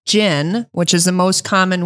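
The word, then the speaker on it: GHIN: going to need some device most likely it's gin and Jim is j-h-i-n no G oh G pronounced j g j g but that's what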